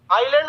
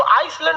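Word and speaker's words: island: आइलैंड में ना S silent रहता है। इसको आइसलैंड नहीं पढ़िएगा, आइलैंड। आइसलैंड तो इस तरह लिखाएगा, आइस लिख के लैंड।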